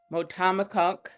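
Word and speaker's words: Motahkomikuk: He is a multi-award-winning museum professional, born and raised in, now he just taught me how to say this, Motamokuk, Indian Township, Maine, and a proud citizen of the Passamaquoddy tribe at Indian Township.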